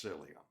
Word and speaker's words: psyllium: with psyllium in it it's spelled with a p but it's pronounced cilia I looked at him